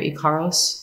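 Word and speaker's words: ícaros: The Icaros are what are used most commonly, or Icaros, depends on which way. There's lots of different pronunciations.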